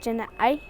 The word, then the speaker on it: Jana'ai: Apache language, and the way how I'm saying it is Jana'ai. That's the way how you say sun in Apache.